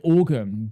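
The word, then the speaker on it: Oregon: I say like organ basically. Organ. Organ. Yeah. Like there is an e in there, but if you say it faster, organ, right?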